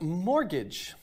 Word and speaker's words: mortgage: we have mortgage the t is silent because it's a french word mol means like dead